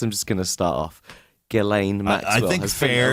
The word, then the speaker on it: Ghislaine: Yeah, as everyone is probably well aware of by now, Ghislaine, so that's how you pronounce her name, as that she's been in the news now, so everyone's learned how to actually.